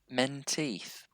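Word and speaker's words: Menteith: my twitter we're at a place called lake men teeth it's the only lake in scotland as i understand and i'm sure someone might correct me if that's not right but yeah it was awesome men teeth lake men teeth yeah m-e-n-t-e-i-t-h i'm just thinking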